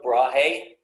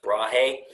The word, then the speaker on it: Brahe: So, Tycho Brahe or Brahe. I pronounce Brahe.